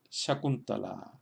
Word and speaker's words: Shakuntala: Shakuntala. Shakuntala. Tenemos que la primera sílaba, sha, es corta porque está compuesta por una vocal corta a la que sigue solamente una K corta.